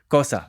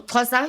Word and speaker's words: Xhosa: Xhosa. Xhosa. So Xhosa, you say it's like you're taking something out of your teeth, like Xhosa.